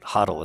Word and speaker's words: HODL: It's HODL. And it's spelt weird, but that's how you pronounce it, HODL.